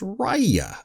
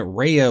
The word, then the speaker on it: Raya: raya and the last dragon now it's actually pronounced raya apparently i've been pronouncing it rayo before and well obviously i was wrong so